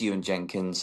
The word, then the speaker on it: Ewan Jenkins: So yeah, it's Ewan Jenkins, and yeah.